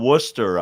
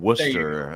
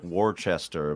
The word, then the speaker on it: Worcester: or something we've got Worcester up here where I'm from Worcester it looks like warchester but that's not what it is uh Brad uh we're